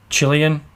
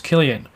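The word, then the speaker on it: Cillian: have I I always thought his name was Chilean and then I've heard other people refer to him as selian or Killian but the correct pronunciation was Killian Mr Kimmel stole my joke it's written simply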